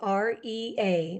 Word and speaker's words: Rea: Rea, REA. Looks like Rhea, .com. but pronounced Rea.